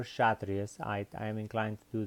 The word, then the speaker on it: Kshatriya: called the shut race now it has a K on it so you can pronounce the cassia trees or Kshatriyas ight I am inclined